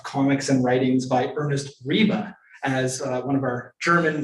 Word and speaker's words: Riebe: new collection of comics and writings by Ernest reeba as one of our German friends helped us with the pronunciation uh of his name here uh here